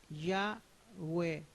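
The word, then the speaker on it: Yahweh: aparte de este nombre no cuyo pronunciación es ya web sin embargo había una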